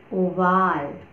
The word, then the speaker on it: Oval: Oval, oval. Oval, written same as in English, but the pronunciation is oval.